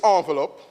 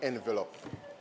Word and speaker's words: envelope: This envelope, that's how it's pronounced just like entrepreneur and ensemble. It's not entrepreneur and envelope.